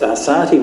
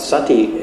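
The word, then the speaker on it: Sāti: Sati the fisherman's son this is Sati with a long a not Sati as in mindfulness uh so he says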